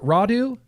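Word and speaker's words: Rodu: Roudou. Roudou, University of Louisville. Yep. This is Roudou.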